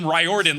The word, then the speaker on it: Riordan: of Rick Riordan saying I say my name ryordin like rye bread my family mispronounces it